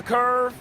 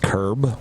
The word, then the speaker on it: curb: I went onto the curve, there's damage here. It's pronounced curb.